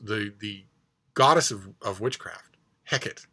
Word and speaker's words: Hecate: the goddess of witchcraft Hecate is how I pronounce it from because I've been steeped up to my eyeballs in Shakespeare but it turns out